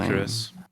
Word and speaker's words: Icarus: His How do you How do you pronounce that name? Icarus.